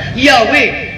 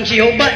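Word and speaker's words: Yahweh: to the taton to the true pronunciation of the taton according to the references ng kong ibasa yahwe ang Jehova Eros false reading daghan pa ang Lord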